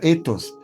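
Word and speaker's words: ἦθος: En su empleo original, ética no se pone con la palabra con con la letra épsilon y con eta y con eta que se pronuncia etos.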